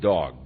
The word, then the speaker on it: Doeg: and his name was doag and he was an Edomite doeg and you could very well pronounce it dog because he turned out to be a real dog and he was the